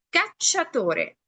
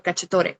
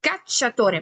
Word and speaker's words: cacciatore: Cacciatore. Yo no digo solo cacciatore, digo cacciatore. Marco más el sonido en cha.